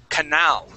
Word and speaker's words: canal: second to last line that word is pronounced canal with the accent at the end canaly that Canal excellent